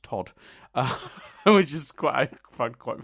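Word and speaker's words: Toht: The sinister Gestapo agent, whose name is written Tont, but is apparently just pronounced Todd, which is I find quite funny.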